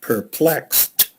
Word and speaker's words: perplexed: we have the word perplexed and again when you see it x and the ed the ed sounds like a t and so you could remember that perplexed yeah because the x